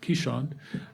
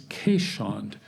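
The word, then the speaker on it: keeshond: some people pronounce it americans tend to pronounce it keyshawn um the proper dutch way is caisson it's a dutch barge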